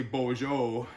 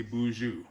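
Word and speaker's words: Boozhoo: Northwestern Ontario predominantly uh they pronounce that as more of an ooh sound so for example here we say Bojo and over that way they say Bou but when you're hearing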